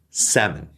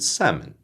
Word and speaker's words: salmon: say it that said the majority of the english- speaking world will say these words without the L in it so I'm from Australia